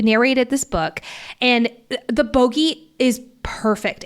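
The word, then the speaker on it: Bogge: starts pronouncing it bogy sjm did confirm it is pronounced bogey Lucian starts to freak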